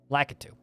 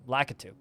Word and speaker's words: Lakitu: Lakitu. I always wanted to pronounce it like Kotaku. Lakitu.